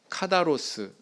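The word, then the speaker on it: καθαρός: 정결이라고 이렇게 번역이 된이 헬라어 단어는 카다로스 이렇게 발음을 합니다 그래서 사전적으로는 순결한 정결한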